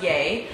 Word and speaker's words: YEA: a so it's about the gap but it's pronounced yeh they started it and then Kidd Kraddick had